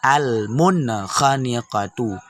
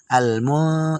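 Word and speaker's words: المنخنقة: Cara bacanya jelas. Al-munkhaniqatu. Al-munkhaniqatu. Jadi jangan baca al-mu, itu salah karena sudah kita pakai dengung.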